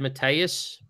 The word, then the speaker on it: Mateus: Yeah, he said Mateus.